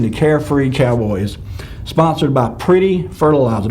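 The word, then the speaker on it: Priddy: carefree cowboys sponsored by pretty fertilizer that's p-r-i-d-d-y by the way i'm not mispronouncing pretty that it was pretty p-r-i-d-d-y uh i wrote the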